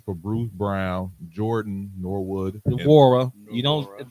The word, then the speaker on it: Nwora: To the Indiana Pacers for Bruce Brown, Jordan Norwood, Nwora. You don't. The N is silent. Hey, what? You called him Brandy, bro. His name, he ain't a Norwood. Jordan Nwora.